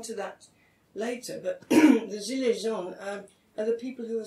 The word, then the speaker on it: gilets jaunes: So they were angry, and the Gilets Jaunes, which are more or less pronounced like that, Gilets Jaunes, his pronunciation has got better every time I've been in France.